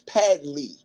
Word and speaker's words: Padley: man patley excuse me they called him Patty though Patty is his uh boxing name I keep calling him Patty his Pad Ley okay I don't want